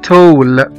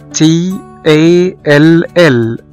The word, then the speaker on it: tall: مثلا زي كلمة tall، T A L L، طويل يعني tall T A L L، هنا نطقنا حرف الـ A كأنه حرف O.